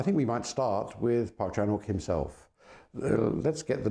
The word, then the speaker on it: Park Chan-wook: So I think we might start with Park Chan-wook himself. Let's get the name clear first. It is Park Chan-wook. The W is not pronounced. It's one of those quirks of Western orthography.